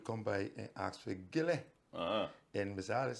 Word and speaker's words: Gillie: So that was Gillie, and Miss Alice Anderson, she's the one saying made sure that people pronounced it properly. Gillie.